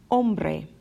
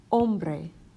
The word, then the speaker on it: hombre: a sound or in hombre hombre once again that H is silent we go right to the Oh hombre which means man